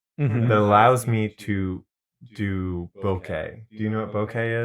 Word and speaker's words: bokeh: a crazy way, that's bokeh. Oh, okay. Yeah. Actually, it might be pronounced bokeh. Bokeh? But it's B-O-K-E. People spell it B-O-K-E-H, but I guess it's a Japanese word, so B-O-K-E-I.